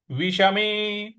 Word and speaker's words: विषमे: विषमे, विष षटकोण वाला श है।